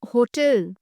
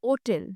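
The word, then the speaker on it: hotel: অ্যান হোটেল বা ওটেল। দেখো এখানে বা অ্যান দুটোই বসতে পারে। কারণ কি? না, আমরা যেমন হোটেল বলি, কিন্তু অনেক অন্যান্য জায়গায় এখানে ওটেলও বলা হয়।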